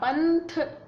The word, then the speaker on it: पंथ: देखो ना, पंथ आगे थ है तो इसका उच्चारण ना हो रहा है, कंघा आगे घ है तो इसका उच्चारण ग हो रहा है, इसकी तरह।